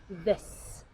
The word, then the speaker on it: this: sound they also this is correctly said as this this last example is there with the correct pronunciation of the th is there great and